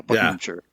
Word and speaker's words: Buckinghamshire: He would definitely correct you on that, but Buckinghamshire, I think. No, Shire is out. Right. Shear is in.